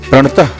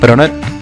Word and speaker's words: प्रणत: भागवत में जो मंत्र लिखा है वो प्रणत क्लेश नाशाय है। जबकि हम इसे गलत उच्चारण करते हैं और कहते हैं प्रणतः क्लेश नाशाय। दुर्भाग्य यह है कि 90 से 95% लोग इस मंत्र का गलत उच्चारण करते हैं। प्रणत की जगह प्रणत कहते हैं।